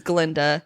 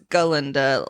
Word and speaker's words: Galinda: cuz on the train he mispronounces her name and says Glenda and she's like no it's Galinda like how you're supposed to pronounce it.